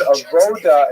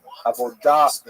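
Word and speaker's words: עבודה: The word avoda in Hebrew, avodah in modern Hebrew, or in Sephardic pronunciation, it's hard to translate properly.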